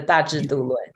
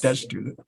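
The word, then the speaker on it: 大智度論: good at pronouncing Chinese, Dashi Du Lun. Is that right? Yes, the Dashi Du Lun. Yes. Dashi Du Lun, yeah.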